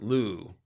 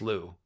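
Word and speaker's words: Lugh: anyways lug is pronounced Lou in Irish the H following a consonant makes the consonant silent l l no it's just Lou cool he's the warrior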